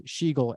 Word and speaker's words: Schigiel: a bit of an oxymoron because my name is spelled strangely, but it is, and my last name is Schigiel, Schigiel.